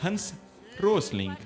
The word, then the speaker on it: Hans Rosling: Que o pronúncia em alemão Hans Rosling.